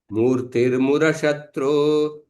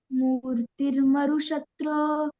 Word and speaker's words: मूर्तिर्मुरशत्रो: मूर्तिर्मुरशत्रो रत्यद्भुत रूपा आस्तां मम चित्ते नित्यं तनुमध्या। सो आप उच्चारण कीजिए। कोई अलग, कोई एक व्यक्ति उच्चारण कीजिए पहले। लावण्या बताओ। मूर्तिर्मरुशत्रो नहीं नहीं, रत्य मूर्तिर्मुरशत्रो।